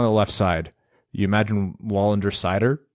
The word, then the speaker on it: Wallander: It's William Wallander, or Wallander, depending on how you want to pronounce that. I believe it's Wallander if you go by the Swedish pronunciation.